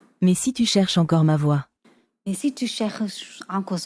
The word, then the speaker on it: ma voix: Why is there an X if you're not even gonna say X?